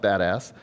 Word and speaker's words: BDAS: Most of you know it's pronounced badass.